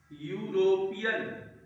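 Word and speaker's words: European: तो यूरोपियन इसका उच्चारण क्या होगा? इ का उच्चारण इसमें नहीं होगा। यूरोपियन यूरोपियन।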